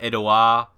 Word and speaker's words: Edouard: Or is it Edouard? Edouard, something like that. Or because he's French, it could be like Edouard. Not pronouncing the D.